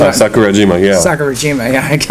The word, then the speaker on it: Sakurajima: Is it Sakajiwara? Sakurajima, yeah.